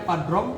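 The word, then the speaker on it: Padrão: Padrong, Padrao dibacanya Padrong bahasa Portugis.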